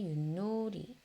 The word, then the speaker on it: 윷: 자, 어떻게 발음 납니까? 디귿으로 바뀌어서 나죠. 윷.